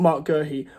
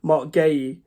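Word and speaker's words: Guéhi: gy just because he sorry not Mark gie Mark Gay I keep mispronouncing his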